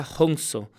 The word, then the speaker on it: Hansa: El término Ahansa o Hansa se pronuncia Hongso, literalmente significa yo soy él.